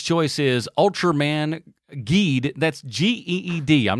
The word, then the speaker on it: Geed: That's G-E-E-D. I'm not mispronouncing that.